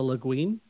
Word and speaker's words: Le Guin: Ollie says, Ursula, how's the last name pronounced? Le Guin. Ursula Le Guin?